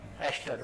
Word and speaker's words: aster: गई इसको क्या बोला एस्टर वड क्लियर अब ध्यान र क्रश्न वाला ईस्टर नहीं है और न्यू यर प ईस्टर आता है अरे केक खाने वाला ये एस्टर है वो ईस्टर है स्पेलिंग ध्यान रखना तो